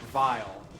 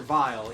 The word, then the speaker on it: Wily: And in German, the W is pronounced like a V. So I think it's still Dr. Vile, even in English. It's just not spelled the same way.